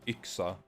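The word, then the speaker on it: yxa: ax in Swedish and it's spelled y x a and pronounced ixa and one of them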